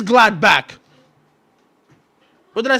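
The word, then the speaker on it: Gladbach: It is gladback.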